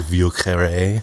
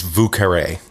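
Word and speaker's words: Vieux Carré: The French pronunciation would be more like Vieux Carre, but it's Vieux Carre.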